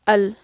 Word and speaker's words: ال: We don't pronounce lam in the التعريف. We skip it. We just pronounce a, like الشمس.